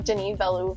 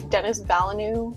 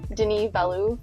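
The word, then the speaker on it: Denis Villeneuve: just found out how to say his name Den valo like like that's really how you say it I thought it was Dennis Banu or something like that Den Valu okay I saw that him and Christopher Nolan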